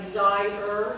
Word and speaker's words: desire: So, well, first of all, I'm going to show you that it's desire, it's two syllables.